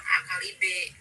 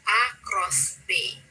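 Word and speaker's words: A × B: kali B gitu kan, padahal itu cara bacanya bukan A kali B gitu, tapi A cross B.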